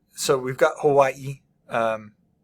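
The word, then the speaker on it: Hawaiʻi: like so we've got Hawaii um you should put like a an emphasis there at the end Hawaii um and Maui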